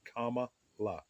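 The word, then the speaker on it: Kamala: care to know um her name is pronounced comma like the punctuation mark la like la la la la la la so put those two together you get comma La real simple um you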